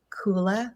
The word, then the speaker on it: Kula: It's spelled K U L A. Kula. Kula means family, tribe, community in Sanskrit.